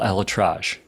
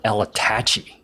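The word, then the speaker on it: ElAttrache: latachi yeah bro great doctor his name is pronounced Dr Neil ellatrage not Neil El Itachi oh yeah well uh I'm going through un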